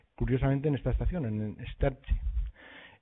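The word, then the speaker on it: Štrpci: Este pueblo de nombre raro, Sterci, se pronuncia, es una estación, una pequeña estación, en un sitio curioso.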